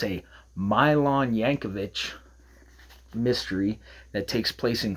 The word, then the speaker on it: Jacovich: And so, I did some digging, and turns out, and it's pronounced, as I learned, uh it's a Milan Yancovich mystery that takes place in Cleveland, which is where I live, just about.